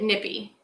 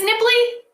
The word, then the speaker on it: nippy: But the phrase is, and I Googled it, nippy, as in cold, as in Jack Frost. Oh, it is nipply?